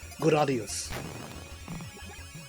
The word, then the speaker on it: Gradius: If you don't like me saying Gradius, sorry. I've talked about pronouncing it before, and I'm just going to call it that because it just sounds more natural. But yes, I do know the title of the game, especially if we're talking about the Japanese version, is pronounced Gradius.